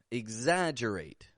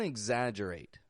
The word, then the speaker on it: exaggerate: Exam, exaggerate. You hear that? Igs. Don't exaggerate.